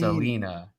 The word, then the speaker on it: Alina: Well, now she's saying Alina, I think, with the 2 E's. Pronounced Alina.